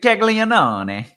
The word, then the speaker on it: Caglianone: stacks, I like Jack Caglianone. Did I pronounce that right, Roth? How do you? Is that? It's just you just kind of undersold it. And Caglianone, just you undersold it a bit.